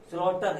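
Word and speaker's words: slaughter: स्लॉटर, इसमें जी का उच्चारण मैंने नहीं किया है।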